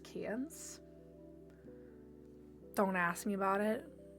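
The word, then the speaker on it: Cairns: Um, can that's pronounced cans.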